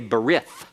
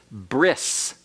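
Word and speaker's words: ברית: Covenant is all right you'll hear some people say bereth that's an anglicized pronunciation that is incorrect Hebrew all right and the Hebrew modern Hebrew uh pronunciation is bris bris okay and you'll hear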